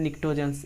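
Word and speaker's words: pnictogen: पी इसके silent होते हैं। निक्टोज पी एन आई सी। आपको प्रोनंसिएट करना है निकोज्स। आपको प्रोनंसिएट क्या करना है? निकट्टोज्स।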